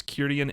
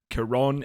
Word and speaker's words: Kirian: an immediate note that our narrator mispronounces kirian's name he says kiron elliot wallace's weapons will be wielded by kiron elliot which is just an